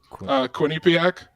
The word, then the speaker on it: Quinnipiac: How do you pronounce that? The school name? Yeah. Quinnipiac University.